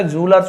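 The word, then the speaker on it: jewellers: ऐसे लिखा होता है बट एक्चुअल में ज्वेलर्स नहीं होता जूलर्स होता है जूल है ना ये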